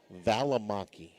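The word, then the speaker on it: Valimaki: Valamaki. V A L I M A K I. Okay. At least it's spelled like it sounds.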